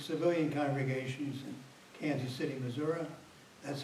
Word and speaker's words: Missouri: say I served civilian congregations in Kansas City Missouri that's how you pronounce it Missour not Missouri Missouri where I had the privilege of uh